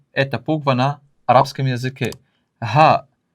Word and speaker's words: ه: Харфуль ха. Так называется эта буква на арабском языке. Ха. Ха. И произносится х. Очень похоже на буква H на английском языке.